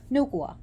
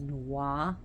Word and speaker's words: Nuwa: So, anyways, Nukwa, who is she? She's pronounced different ways. She's pronounced and spelled different ways as Nuwa, Nukwa, and Nukwa.